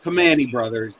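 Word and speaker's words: Primanti: Never heard of Joe, if Pamani Brothers was actually designed Joe, around I'll spell it out for you. You'll never sound it out. It's PRIMANTE apostrophe S.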